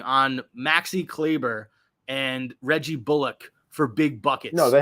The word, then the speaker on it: Bullock: It's not Bullock. He said they've been mispronouncing his name for like 10 years. It's Reggie Bullock.